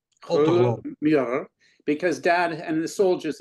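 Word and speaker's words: Kröller-Müller: How do you pronounce that museum? Kruller-Müller. Yes. Kruller-Müller. Kruller-Müller, because Dad and the soldiers had helped remove paintings, but they couldn't find a use for it.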